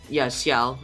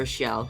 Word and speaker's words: Siauw: Yeah, it's pronounced Siauw or Xiao. As long as you get that Yao part at the end correctly, I guess I'm fine with that.